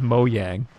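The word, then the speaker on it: Mojang: thing I've ever heard we all learn in like 2013 that is pronounced mo yang I never I don't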